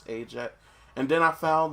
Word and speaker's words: Ajett: Like I'd found like I found that it was like a common Indian name, like but it was pronounced Ajett. So everyone Yeah. else keeps pronouncing it Ajett, and I'm like, no, it's Ajett.